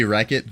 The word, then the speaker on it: Rechot: I say Wreckit, but honestly, it doesn't matter that much, right? How how often are you saying it out loud? Wreck it. Like Wreckit Ralph, that round belongs to you.